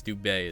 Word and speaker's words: Dubé: Doobie, I think it's Dubé is how you say his name.